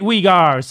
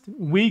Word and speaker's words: Uyghur: to you ever again so he pronounced uyghur uyghur's wrong wigars so he's discounted forever